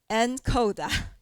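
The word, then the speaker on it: NCODA: use this chance to correct you the pronunciation Here we usually say HY-COM, N-CODA So then...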